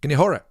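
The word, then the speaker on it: kein ayin hara: what i mentioned before kane ein hara it's all pronounced quickly kenihora dog confused with kenora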